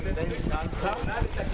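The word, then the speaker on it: Bintanath: For her face features, she's Bent Aynat. Bent Aynat, or you may pronounce her name Bentanta.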